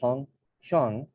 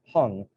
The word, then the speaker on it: Hyung: I have a friend named Hyung, an age-old Korean name for older brother, who upon immigration, his fifth grade teacher pronounced Hung, baptizing him a new